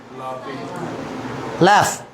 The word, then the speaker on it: laugh: Next word, हंसने को क्या बोलते हैं, हंसना, लैफ. क्या वर्ड है वो, लैफ. Okay, spelling LAUGH, लैफ, left, left, हंसना.